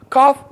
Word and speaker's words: calf: Calf, angel. Calf. The la here is silent.